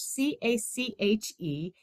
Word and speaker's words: cache: Now, cache, CACHE, it's pronounced cache.